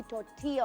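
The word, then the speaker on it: tortilla: जिसको हम बोलते हैं लेकिन वो अल जो प्रनंसीएशन होती है उसकी तॉटी या होती है लाइक डबल ल जो होता है वो साइलेंट होता है थोट्टिया मिंस फ्लैट ब्रेड क्योंकि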